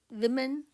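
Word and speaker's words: women: इसको अगर आप इसकी प्रोनाउंसिएशन देखें तो इसकी प्रोनाउंसिएशन हिंदी में आएगी वे में न, विमेन, और जो वर्ड था उसकी आएगी वुमन, वुमन और विमेन।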